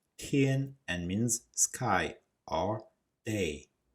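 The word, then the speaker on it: 天: Underneath, we have a Chinese character which is a word pronounced tian and means sky or day.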